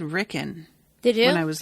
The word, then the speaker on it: Rickon: character on the podcast i think i said ricken um i don't really remember now that you were talking about it but you know what maybe i always pronounce it rickon because i watched season